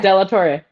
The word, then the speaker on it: de la Torre: This is Jonathan Ginsburg and today I'm joined once again by Delator. Is that am I pronouncing it correctly? Deator. Yeah, Delator.